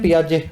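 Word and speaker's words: Piaget: दूसरा आदमी है पियाजे। अब लिखने को क्या बनेगा? पीआरजे ऐसा ही बनेगा ना लेकिन इनका नाम थोड़ा सा अजीब है। लास्ट में इनके टी लगता है जो कि साइलेंट है।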